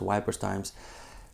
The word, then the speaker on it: Wipers Times: their satirical newspaper uh wipers times or whippers times I believe it's pronounced wipers times um you might compare